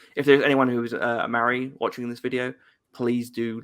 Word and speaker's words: Māori: Maori. You Yeah, you gotta roll your R. Kind of like a D.